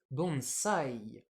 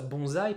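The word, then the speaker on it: bonsai: français on prend ça bonsaï parce que quand on a un S coincé entre une consonne et une voyelle on le prononce comme dans consomme d'ailleurs donc français ça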